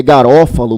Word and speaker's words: Garofalo: Lembre comigo que Garofalo é Garofalo mesmo, né? Se escreve Garofalo porque é a expressão italiana e por isso que o próprio paroxítone aí não é acentuado.